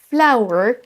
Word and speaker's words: flour: Notez au passage que flower, la fleur, et flour, la farine, ont beau avoir deux orthographes différentes, ces deux mots se prononcent exactement de la même façon.